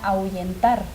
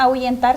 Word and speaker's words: ahuyentar: ahuyentar la palabra ahuyentar sabemos que solamente tiene tres sílabas algunas personas se confunden porque piensan que la h forma una sílaba parte con la uv pero recordemos que la h bueno aquí se presenta un fenómeno fisiológico fonético porque la h no tiene no tiene un sonido como tal por lo tanto la